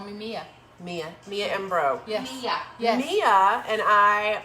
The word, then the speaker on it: Mbroh: this is mia and pronounce your last name bro that's it and it's spelled m-b-r-o-h correct but you can just call me mia mia mia ambro yes mia mia and